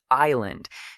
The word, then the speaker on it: island: I remember teaching a student who was frustrated with island because she kept pronouncing these. But when I showed her that it's related to isle, the pattern suddenly made sense.